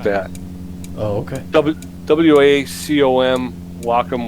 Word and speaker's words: Wacom: WACOM, Wacom. A lot of people pronounce it differently, but I believe it's pronounced Wacom.